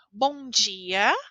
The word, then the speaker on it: bom dia: a pronúncia bom dia quando eu tenho as letras d i em São Paulo nós falamos de existem regiões que falam de existem mas eu vou ensinar para vocês da forma como eu falo então eu digo Bom dia também quando a palavra